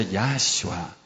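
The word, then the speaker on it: יהושע: Y se escribe Yod, Hei, Bab, Shin, Haim. Y se pronuncia Yahshua.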